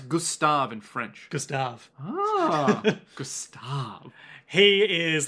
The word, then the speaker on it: Gustave: How do you pronounce Gustave in French? Gustave.